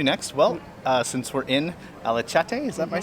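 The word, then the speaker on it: Alaçatı: Well, since we're in Alacati, is that my saying it right? Alacati? Alacati.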